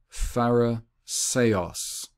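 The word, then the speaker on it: Φαρισαῖος: Okay, and it's pronounced Pharisaos, or just Pharisee, which that A-I at the end, it's E.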